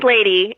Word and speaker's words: Ladee: All right, so I'm excited to welcome to the program Ladee Hubbard, author of The Talented Ribkins.